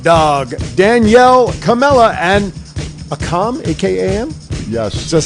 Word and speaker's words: Akam: May 20th, Road Dogg, Danielle Camella, and Akam, A-K-A-M? Yes. Is that how it's pronounced? WWE wrestler. All right, Akam. Don't remember it. Okay, May Is it 20th. Akeem? No, So- it's a com, A-K-A-M.